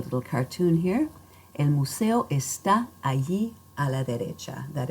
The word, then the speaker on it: está: Make sure that when you speak, you are putting the stress firmly on that last syllable, and that will help